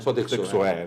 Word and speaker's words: Sodexo: Sodexo, as pronúncias é essa.